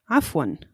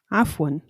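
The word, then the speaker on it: عفوا: To answer thank you, you're welcome, you could say Afwan. Afwan. This also has the same pronunciation in both dialects.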